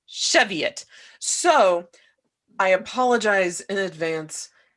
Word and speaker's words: Cheviot: Midwest of America, and there is a town outside of Cincinnati that is clearly Chavoy, but is pronounced Cheviot.